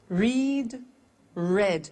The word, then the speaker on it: read: make made meet met read read notice that now read and read are written exactly the same but the pronunciation changes in the past tense read read say said